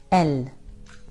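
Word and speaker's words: elles: L. So the same the s is silent.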